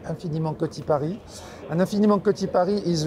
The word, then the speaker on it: Infiniment Coty Paris: That's the way, you know, we want to pronounce it, the French way, Infiniment Coty Paris.